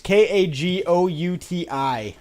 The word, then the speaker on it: Kagouti: I'm not sure how to pronounce it. It's Kagouti.